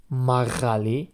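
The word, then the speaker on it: მაღალი: We know how to say the tall or high in Georgia. It's magali.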